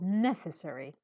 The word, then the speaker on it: necessary: okay it's necessary okay say necessary put the stress on the first syllable necessary necessary okay necessary okay